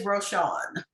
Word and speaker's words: Rochon: my real last name the fake one is roshawn okay what's your real